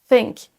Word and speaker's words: think: Think, think. Ça, c'est la bonne prononciation du son TH. Il faut que votre langue dépasse de votre bouche et qu'on la voit un petit peu. Sinon, vous ne prononcerez pas le bon son. Si vous gardez votre langue à l'intérieur, vous ne prononcerez jamais le son TH de la bonne façon.